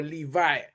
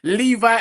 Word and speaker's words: Levi: Levi as in jeans.